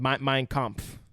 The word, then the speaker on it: Mein Kampf: Mein Kampf.